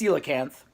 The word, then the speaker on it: Coelacanth: And it has a very odd spelling, Coelcanth, but it's pronounced Coelacanth.